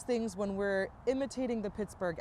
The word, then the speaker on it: Pittsburgh: Pittsburgh we hear a lot of people say pixburgh but I don't I don't know that I've